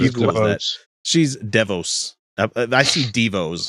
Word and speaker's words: DeVos: don't know how do the pronounce this lady name deah no it's no it's not that not as cool that she's DeVos I see deos D I see but Davos